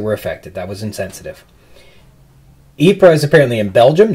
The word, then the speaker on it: Ypres: It's in Belgium, and it's pronounced Ypres, not Ypres, or whatever I was doing.